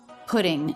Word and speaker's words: putting: all over the place pudding so the flap tea just like in better this sounds like the D between vowels in American English so this word actually sounds just like this word pudding which is a dessert